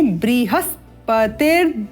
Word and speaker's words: बृहस्पति: Arisht name Swasti no बृहस्पति द धातु तो यहां बृह होगा या ब्रह होगा उत्तम उष्म व्यंजन है इसलिए यहां पर ब्रे ए की अल्प ध्वनि के साथ ब्री का उच्चारण बृहस्पति द धातु उत्तम